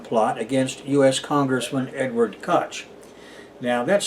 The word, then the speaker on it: Koch: what he pronounced it so that it rhymes with Scotch for example but generally speaking Koch in American versions of English is pronounced Coke the way the Koch